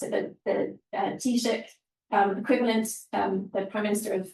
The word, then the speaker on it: Taoiseach: Roll on 15 years, last October, I just asked Joe how to pronounce it, the Taoiseach equivalent, the Prime Minister of Sarawak, launched their net zero policy, big fanfare.